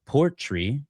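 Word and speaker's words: Portree: And this is called Port Tree, even though it's spelled like Port whatever, rouge, whatever.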